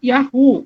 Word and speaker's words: Yahu: Então, todos esses nomes, eles demonstram que uma pronúncia curta e primitiva do nome de Deus era Yahu.